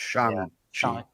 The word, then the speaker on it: Shang-Chi: It's Shang-Chi. Yeah. That was literally a joke throughout the movie. He was correcting everybody. It's Shang-Chi.